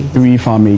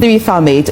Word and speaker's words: 3Farmate: I was waiting for you to kindly teach me the correct pronunciation. How do you also say the the business name properly? Free Farm Made. Free Farm Made.